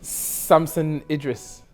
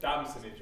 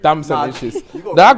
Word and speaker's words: Damson Idris: Samson Idris. That's a relegate. Samson! Sam Idris. You're right, but it's Damson Idris. Damson Idris.